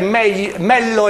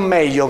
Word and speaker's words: Mello: Tra l'altro cartellino giallo, perché la pronuncia esatta è Mello e non Meglio, come dicevi poc'anzi.